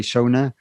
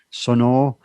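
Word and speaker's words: Sonor: then thomas bath from so i say sona sono i think is the official way we talk about how to pronounce that in the german way but he's a the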